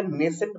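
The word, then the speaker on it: nascent: इसके प्रोनाउंसिएशन में ध्यान दीजिएगा, नेसेंट बोलते हैं।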